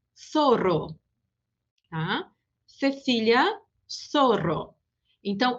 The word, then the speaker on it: Zorro: em toda a América, o Z e o C diante do E e do I se pronunciam como o S. Então, esses dois exemplos anteriores ficam Cecília e Zorro.